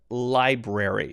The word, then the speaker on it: library: It's library. So you have that weird R again, Library.